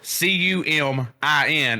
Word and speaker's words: cumin: coming story for one if it's spelled c-u-m-i-n it should be pronounced coming not human if you're going to spit if you're going to pronounce it cumin you put a q in that somewhere yeah so all right